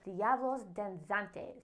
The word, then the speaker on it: Diablos Danzantes: The most colorful event would probably be during Corpus Christi, where you can see the dancing devils, Diablos Danzantes.